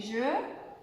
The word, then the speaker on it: jeux: Donc, un jeu, des jeux. L'eau qu'on boit, l'eau, les eaux. Donc, ça ne se prononce pas.